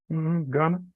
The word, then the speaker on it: Gunna: Gunna, Gunna. Gunna? Okay, like gun, Yeah, which would be different from the colloquialism Ghana, Gonna, which yeah.